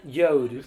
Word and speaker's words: Jord: Do I pronounce it? That's how you pronounce it. Yode.